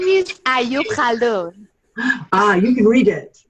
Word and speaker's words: Khaldun: It is Khaldun. Khaldun. Khaldun. Okay. Khaldun, yeah, from the back throat.